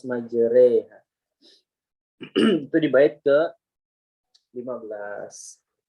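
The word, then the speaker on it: مجريها: Walaupun tulisannya kan majroha. Ya, jadi nggak boleh kita baca majroha, nggak, harus majreha.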